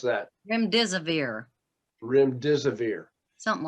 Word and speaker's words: Remdesivir: How do you pronounce that? Remdesivir, Remdesivir.